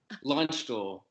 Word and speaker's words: Landstuhl: Landstuhl.